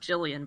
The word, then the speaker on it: Gillian: arab but his sister gillian was the one who wanted to become a huntress he just followed her he went wherever he was that's pronounced jillian by the way uh gillian jillian